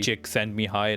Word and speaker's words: Csikszentmihalyi: That's the pronunciation at the back like literally Csikszentmihalyi. Like that's how you pronounce the name.